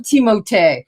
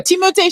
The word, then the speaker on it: Timothée: I call him Timothée. Okay, he's French. Timothée. Can we just pronounce his name in the French way? Timothée Chalamet.